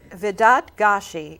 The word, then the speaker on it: Vedat Gashi: you to say thank you thank you so Vedad Gashi is that the correct pronunciation that is the correct pronunciation okay because